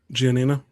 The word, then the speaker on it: Gianina: Gianina.